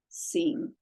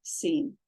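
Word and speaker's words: שִׂין: With the dot on the left, it makes the S sound.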